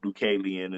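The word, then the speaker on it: Deucalion: um named dualan I didn't know it was pronounced dualan until a few years ago when my brother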